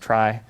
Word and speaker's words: trie: But now it's pronounced trie. It's just another word for tree, but where the children of a tree come from a fixed universe.